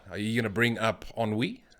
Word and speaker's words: Ennui: Ennui? Ennui, yeah. I pronounced it correctly. Well done. Thanks I'm for. proud. Even I am proud. Ennui, like Henri, the football player.